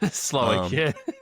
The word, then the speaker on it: Slowik: Uh so they got rid of Bobby Slowiki or Slowick, however you pronounce it. Slowick.